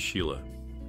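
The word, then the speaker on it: Síle: Burt Lancaster's daughter, Sile, has a name pronounced as Sheila.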